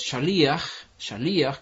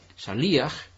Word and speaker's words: shaliach: que viene del hebreo, que es shaliach, con el acento en la i, shaliach.